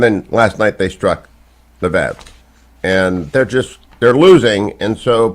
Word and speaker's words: Lviv: Lviv.